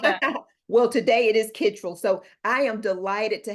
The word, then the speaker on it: Kittrell: you're absolutely right because in North Carolina it's pronounced Kittrell, and but I grew up with my relatives, some of them pronouncing it Kittrell, and Okay. so I've always said Kittrell. But when I go to North Carolina, they say Kittrell, so I have to accept it. I can't change it.